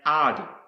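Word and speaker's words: עד: Another word I want to show you is pronounced ad, and it means eternity, forever, perpetuity, continuing future, witness and testimony.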